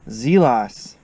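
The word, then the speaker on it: Zelas: based on our friend, once again, Google, Wikipedia, Zelos. That's how you pronounce it.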